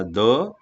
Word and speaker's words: the: म्हणजे या ठिकाणी च्या आधी येणारा द, सनच्या आधी येणारा द हा दच उच्चारायचा आहे.